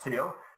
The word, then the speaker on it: Thiel: It's actually pronounced Thiel. Thiel. Thiel. Yeah, absolutely. Silent H, and no one ever gets it right.